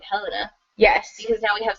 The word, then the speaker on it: Helena: But I think we've established that her name is pronounced Helena, not Helena.